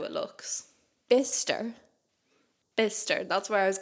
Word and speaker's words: Bicester: going I was like I have to go to Bicester and they were like no that's bister um but I knew that but I had learned how to say it so when I told the bus driver where I was going I said bister which was a bit